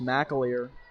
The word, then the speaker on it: McAleer: number 34 Carson McAleer and pardon the pronunciation believe it is McAleer and no you're not